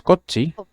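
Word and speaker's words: こっち: de acuerdo primero tenemos cochi espacio que en Roma 10 se escribe como con doble c pero se produce a cochi cochi de acuerdo cochi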